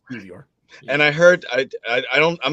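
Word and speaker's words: Kiwior: No, the W is pronounced like a V. It's Kivior.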